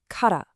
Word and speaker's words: kara: And here it is, kara, pronounced ka-ra.